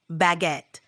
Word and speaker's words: baguette: saying uh how about baguette that's a d one it's pronounced almost like it looks baguette with a little emphasis on the second syllable give it a shot